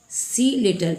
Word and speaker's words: cell: केल नहीं बोलेंगे, क्या बोलेंगे? सेल। क्योंकि यहाँ पर देखिए सी लेटर के बाद ई है और आपको बता दिया गया कि ई, आई और वाई अगर सी लेटर के बाद रहेगा तो उसका उच्चारण स होगा।